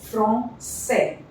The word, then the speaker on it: français: Okay, so this becomes français. Français, ça va, garçon, maçon. C with this accent is always S.